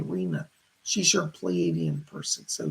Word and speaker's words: Rina: She spells it R-I-N-A, like Rina, but it's pronounced Rena, R-I-N-A, Rena.